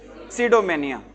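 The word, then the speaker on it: pseudomania: सिडोमेनिया। कौन सा वर्ड है अपना? सिडोमेनिया। इसमें ठीक है? पी साइलेंट है बच्चों।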